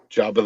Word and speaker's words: Jabba: weird hey Matt yes how do you pronounce Jabba the Hutt job of the Hutt so you don't say Jab why would I say Jabba